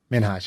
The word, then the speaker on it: Minhaj: Minhaj? Minhaj, yeah.